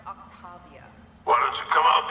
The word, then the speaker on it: Octavia: our file says technology barrier technology and it's pronounced Octavia why don't you come out peacefully why don't